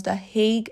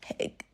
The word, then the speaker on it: The Hague: I really hope you heard me pronounce The Hague and not just Hague.